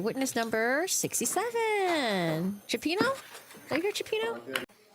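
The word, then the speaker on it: Chiappini: Chapino. Are you here? Chapino. State and spell your name for the record. My name is Japini. Last name is spelled C H I A.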